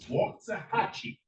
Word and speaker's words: Waxahachie: I have to say it right. It's Waxahachie.